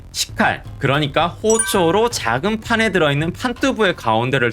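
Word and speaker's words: 包丁: 예외적으로 식칼을 포정이라고 쓰고 호초라고 읽는데 칼질을 한 번 해서 두부를 팔았기 때문에 두부 한 모를 이쪼라고 한다.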